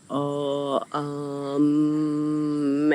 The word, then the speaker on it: om: om um video and om is three syllables it's spelled om so it just looks like it should be um but it's oh um and you always wanna try to get that vibration between your lips and we'll get further